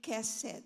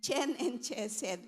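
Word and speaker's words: חסד: It's ken and kesed. So I thought it was chen and chesed, but I researched and the way they pronounce it is ken and kesed.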